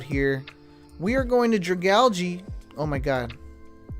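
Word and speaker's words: Dragalge: We are going to Dragali. Oh my god, I need to pronounce his name correctly. It is Dragalgi. I alternate between Dragal and Dragali.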